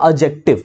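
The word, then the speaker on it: adjective: एडजेक्टिव नहीं कहते, एडजेक्टिव में भी डी साइलेंट होता है, दैट इज योर एडजेक्टिव।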